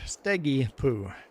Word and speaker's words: Steggy Poo: pronounce his name, and said his name is pronounced Steggy Poo. That is the right pronunciation. I had the same questions, like, how do I pronounce your name? You can just call him too, Sparkle Station, and you're good. Steggy Poo. Like poop.